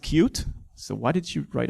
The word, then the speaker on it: Qt: Now, if you're not familiar with Qt, which is actually pronounced cute, so why did you write it Qt?